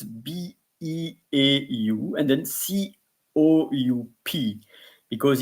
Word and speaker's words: beau: So the first is beau, B-E-A-U, beau, beau. It's like there was also the first name B-O, Bo. So it's a Bo, but in that case it's B-E-A-U, Bo.